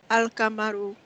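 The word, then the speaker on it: القمر: Example, al-kamaru, the moon, is pronounced al-kamaru.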